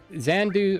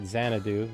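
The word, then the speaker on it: Xanadu: sure if I can commit to it yet xand do or I probably pronouncing that game right zanadu there we go English is hard for me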